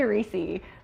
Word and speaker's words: Reese's: how do you say Reese's I say reesei but most people say Reese's Reese's Reese's yeah agreed